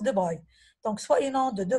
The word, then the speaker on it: de Broglie: Bon, ça s'écrit comme je l'ai dit de Broglie, mais on le prononce de Broglie.